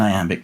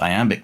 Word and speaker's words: iamb: So the difference being the iamb has the stress on the second syllable, the trochee has the stress on the first syllable.